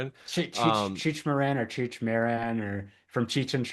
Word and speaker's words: Cheech Marin: Cheech Marin? Cheech Cheech Cheech Marin or Cheech Marin or from Cheech & Chong.